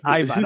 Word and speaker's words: Iwan: Like Eldar is like W in Eastern Europe means V. Like Iwan is Ivan.